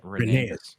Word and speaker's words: Rhaenys: Renee.